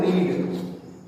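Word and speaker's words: read: अब जैसे मान लीजिए लिखा हुआ है रीड, रीड, रीड मतलब क्या होता है, पढ़ना। तो रीड को जब सेकंड बोलेंगे तो रेड और थर्ड बोलेंगे तो रेड, ये प्रोनाउंसिएशन हो गया, उच्चारण, लेकिन जो स्पेलिंग होगी वो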